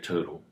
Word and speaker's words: TRTL: Yeah, Turtle. It was a little bit more expensive. TRTL. TRTL? Yeah. Much better. Yeah, that's how you pronounce it.